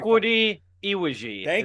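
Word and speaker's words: Chukwudi Iwuji: It's a very Chukwudi Iwiji is how you say it.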